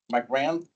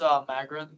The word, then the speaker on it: Magrin: My grand, Raja Kumar. Did I pronounce it right? It's Magrin.